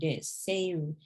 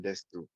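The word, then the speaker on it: です: Now so you're in Seruzman desu. This. You don't need the U. It's not we don't usually pronounce it in Japanese.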